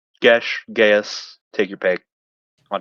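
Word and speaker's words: geas: Gish. Ghas. Take your pick on how you want to pronounce it. It's pronounced gash, but it's also pronounced gas by other people.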